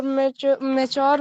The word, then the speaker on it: mature: तो आपको सिर्फ ध्यान रखना है कि मेच्योर का प्रोनाउंसिएशन जो है मैच्योर थोड़ा Mature. मैच्योर। मैच और यार को साथ में लाएंगे तो मैच्योर, है ना।